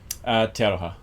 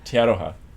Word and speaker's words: Te Aroha: Te Aroha, which means the love in Māori. How do you spell that?